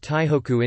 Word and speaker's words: Taipei: Taipei is generally pronounced Taihoku in Japanese.